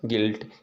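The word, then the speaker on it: guilt: जब कभी यू के बाद कोई वाइवेल्स नंबर्स आए, ठीक ना, अक्षर आए, तो यू यानी इसमें से हम यू को तो साइलेंट पढ़ेंगे, ठीक है ना। आप देख सकते हैं गाइल, गिल्ट, गिटार, गॉड और बिस्कुट, ठीक है ना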